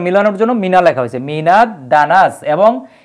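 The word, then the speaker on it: مِنَ الدَّنَسِ: জন্য মিনা লেখা হয়েছে মিনা দানাস এবং এই দাল হরফটাও কিন্তু সূর্যাক্ষর এজন্য কিন্তু আলিফ লামের উচ্চারণ এই জায়গায় হয়নি ঠিক আছে যদি আবার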